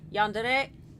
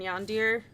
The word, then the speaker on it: yandere: Except, I guess it's pronounced Yandere and Tsundere. Tsundere, right? I don't know. I've only read the words. I've never said them out loud. But right? Yandere and... I don't know if the word originates in Japanese or not. In my mind, I've always pronounced it Tsundir and Yandir, but I'm sure that's not right.